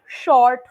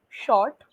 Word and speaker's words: short: okay two things firstly can you pronounce short for me again short short short yeah that was slightly mispronounced when you used it uh earlier it became like s or something like the S was slightly mispronounced so take care of that short short okay uh